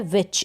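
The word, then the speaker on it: which: और ये है विच, इसको पढ़ेंगे विच, CH का उच्चारण ध्यान रखें च होता है, CH को हम च प्रोनाउंस करते हैं, च पढ़ते हैं।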